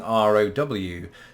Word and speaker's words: row: of the pond but also a different pronunciation now both countries of course employ the word row to row a boat and it's pronounced the same way in either country but in Britain we also use the spelling ro w to mean an argument we had a row just like I'm gonna